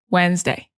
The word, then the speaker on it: Wednesday: So some words in English, like, for example, Wednesday is spelled in a very strange way, and it's not how we say it. So when native speakers are writing Wednesday, we think Wednesday, but we don't say that. We say Wednesday.